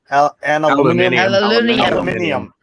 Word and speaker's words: aluminium: have like they say how do they say aluminum aluminium and just like they say herb herb because